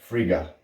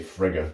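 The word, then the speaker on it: Frigga: of a deity called Friga I think I'm pronouncing that correctly you know your impulse was to say frigus but it's not that it sounds like something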